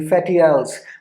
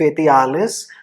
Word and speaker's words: Fetiales: priests known as the Fetiales. Now अगर मैं Latin में इसको पढ़ूँ तो it's Fetialis, but मैंने internet पे pronunciation check करी थी, so it was Fetiales.